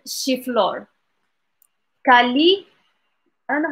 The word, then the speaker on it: الشيفلور: So, yes, chiflor. Chiflor.